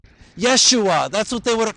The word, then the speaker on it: Yeshua: Joshua, as spoken in the original Hebrew language of the Old Testament, is pronounced Yeshua. Yeshua, that's what they would have called him.